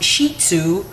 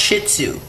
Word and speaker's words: Shih Tzu: that it is pronounced Shih Tzu like sheet of paper and then Zoo it's not pronounced Shih Tzu she doesn't like that